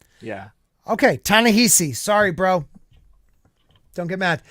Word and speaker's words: Ta-Nehisi: that right there um so yeah the uh tanishi coats is that how you say his name tanishi tanahisi yeah okay tanehisi sorry bro don't get mad uh alleged leaks